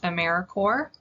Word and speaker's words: AmeriCorps: s on the end it's also pronounced americorps like marine corps or core of the earth a service site is